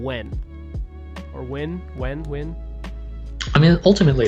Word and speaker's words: Nguyen: No, looks like it's Win in English, and there's like Nguyen Northern Vietnam and Nguyen Southern Vietnam.